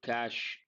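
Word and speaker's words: cache: And cash, how do you pronounce this? Your regular word cash, and this one, same pronunciation.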